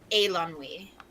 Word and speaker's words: Eilonwy: In Welsh, the EI would make an A sound, so it would be Eilonwy.